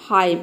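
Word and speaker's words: hymn: भी N silent है डैम हाइम इन सभी वर्ड में एन लेटर साइलेंट है तो किसी भी वर्ड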